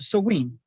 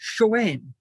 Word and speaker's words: Samhain: between Scotland and Ireland, in Ireland, it's pronounced Soween. In Scotland, it's pronounced Shoane or Siobhan. And this MH sound is one of those peculiarities of the Gaelic languages. It can either be a B or a V or even a W.